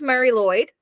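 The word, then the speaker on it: Mari Lwyd: um so it's called the Mary it's it's pronounced Mary Lloyd this doesn't look like it um it is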